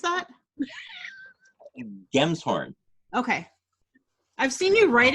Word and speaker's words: Gemshorn: Gemshorn. Okay. I've seen you write it before, but it's one of those things where I'm like, is it a Jim's horn? It's a Gem's horn.